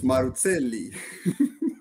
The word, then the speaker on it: Maruzzelli: So it's Maruzzelli. That's it. With a hard Z. Hard Z. It's like pizza, nice. Not pizza.